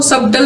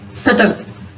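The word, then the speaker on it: subtle: इसको सबटल नहीं पढ़ना, सटल.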